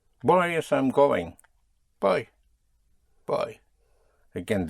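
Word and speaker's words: voy a: So it's always boy I'm going though it is spelled in two words but in in the spoken language you contract the boy to boy you make it practically one word yes in speaking boy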